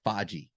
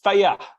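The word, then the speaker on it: Fage: about greek yogurt i i never knew how to pronounce it i thought it was like foggy yeah but it's it's faiya i think it's funny yeah it's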